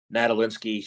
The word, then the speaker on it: Nadolinski: first name is Elena her last name is natal linski she is the CEO of iron fish Foundation